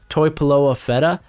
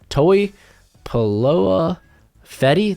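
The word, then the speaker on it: Tupuola-Fetui: mention right now like zion toy paloa feta toei paloa fetty there we go out of washington he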